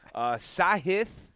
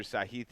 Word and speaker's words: Sahith: Sahith, I heard is how you say it now.